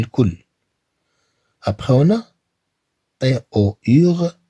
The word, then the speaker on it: tour: Après, on a T-O-U-R se prononce tour.